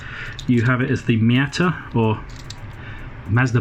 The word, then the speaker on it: Miata: In the USA you have it as the Miata or Mazda Miata, No real T pronounced in the pronunciation of Miata.